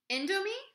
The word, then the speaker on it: Indomie: Indomie? Yeah, that's probably how you pronounce that.